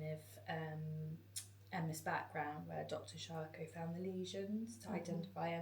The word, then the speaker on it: Charcot: Charcot. It's the French word, Charcot.